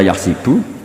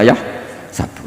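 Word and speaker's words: يَحْسَبُ: Karena dalam qiraat sab'ah ada yang baca yahsibu, qiraat kita baca yahsabu. Tapi guru-guru kita kalau ngajar fikih itu bacanya yahsibu. Tapi kalau baca Quran yahsabu. Ya kan Quran kita kan ayah sabu Allah yaqdiru alaihi ahad, bukan dibaca ayah sibu.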